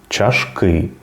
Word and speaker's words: чашки: є в українській мові запам'ятаємо що у більшості випадків іменники множини мають наголос на останній склад наприклад чоловіки жінки огірки тарілки миски чашки квитки книжки наприклад правильно